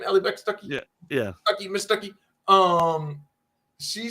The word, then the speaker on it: Allie Beth Stuckey: Allie Beth Stuckey?